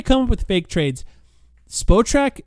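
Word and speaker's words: Spotrac: By the way, one thing I will mention, if you're trying to come up with fake trades, spot track, that's how you pronounce that word.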